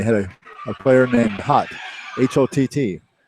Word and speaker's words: Hott: That last game, they had a player named Hott, H-O-T-T. He said, that's not Holt misspelled like they said last year. His actual name is Hott.